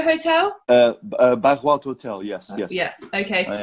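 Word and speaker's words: Bairro Alto: And you're in the, sorry if I pronounce this wrong, the Barro Alto Hotel? Barro Alto Hotel, yes.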